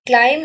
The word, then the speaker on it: climb: ଜଣେ କହୁଛି ଜଣେ ଶୁଣୁଛି which letter in the word climb is not pronounced climb ରେ ଆପଣଙ୍କର କୋଉଟା pronounced ହୁଏନି b ଟି ଆପଣଙ୍କର pronounced ହୁଏନି ସାଇଲେଣ୍ଟ ଲେଟର ଥାଏ ତ